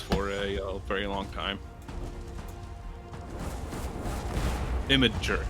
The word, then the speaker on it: Imgur: Imager is how you pronounce that.